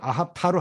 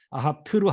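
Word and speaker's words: אהבת: 근데 발음을 아합타로 하느냐 아합트로 하느냐에 따라서 이게 남성이 될 수 있고 여성이 될 수가 있어요.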